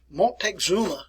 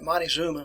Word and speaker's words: Montezuma: a person by the name of montexuma won't take zuma or we call it montezuma montezuma the second there